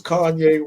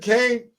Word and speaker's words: Kanye: I mispronounced it. So I said, yo, what's good, Kane? He was like, yo, it's Kanye, nigga.